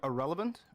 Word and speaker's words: Ahrelevant: no um i am irrelevant all right true the actual word irrelevant was taken and i like it so it's pronounced exactly like the word irrelevant like somebody is a nobody and yeah i'm a